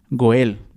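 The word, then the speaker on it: גאל: El término hebreo es Gaal, o como otros lo pronuncian, Goel, ¿sí?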